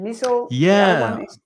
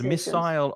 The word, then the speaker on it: missile: As Monica said, there are two pronunciations: missile or missile. And I just assumed that missile, which is probably what I would say is British English, but no, missile is more typically British English, and missile is American English pronunciation.